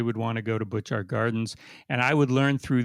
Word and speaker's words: Butchart Gardens: Bouchard Gardens? Bouchard? Butchart. They're not called Butchart, are they? Yeah, Butchart Gardens.